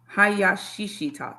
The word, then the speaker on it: Hayashishita: Hayashishita.